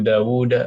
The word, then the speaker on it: Dawud: Ya, dalam bahasa Arab penulisan Daud adalah Daud. Padahal panjang Daud. Bacanya panjang Daud. Abu Dawud, Abu Dawud, Daud. Tapi wawunya ditulisnya satu.